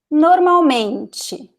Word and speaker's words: normalmente: Normalmente. Normalmente. So here we have 4 syllables. Normalmente. And you know that this stressed one is this one because it is the second to last.